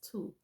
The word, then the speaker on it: Thoth: That's where the Netta Tu, Thoth, or Thoth as some call him, I'm recorded some years ago, his name is Tu, even though it's spelled Thoth.